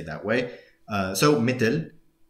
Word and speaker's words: مثل: By the way, originally it's like this تا is ثا, so مثل, right? Which is where we get words like مثال, like example, مثلا, for example. But again, in the dialect, we say مثلا or مثلا.